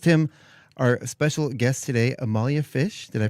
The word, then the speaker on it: Amalia Fisch: So, we have with us today, of course, our co-host Tim, our special guest today, Amalia Fish. Did I pronounce that correctly?